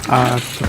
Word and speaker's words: Артур: Ударение на Артур.